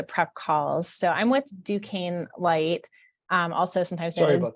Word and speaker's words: Duquesne: that I should go through the uh phonetic pronunciation of our company name whenever we do the prep calls so I'm with Duquesne Light um also sometimes kezny Duchesne no it's always like a fun uh when